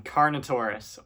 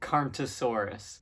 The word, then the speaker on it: Carnotaurus: All right, first one, Carnotaurus, or as I used to pronounce it, Carnotasaurus.